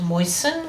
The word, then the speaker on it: moisten: that you don't pronounce so moist you do say the tea but when you make it into moisten you don't and there's quite a